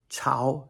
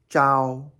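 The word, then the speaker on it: 朝: Chao, second tone, which also can be pronounced Zhao, first tone.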